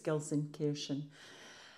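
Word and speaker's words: Gelsenkirchen: how you say it I've heard Gilson kkin and Gilson Kiren but I think it's Gilson Kiren apologies if I got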